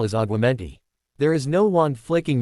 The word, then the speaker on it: Aguamenti: As he came back out, he heard Hermione saying, "You're saying it wrong." "It's Aguamenti, not Menti."